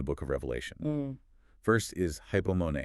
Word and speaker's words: hypomone: First is hypomone, h u p o m o n e.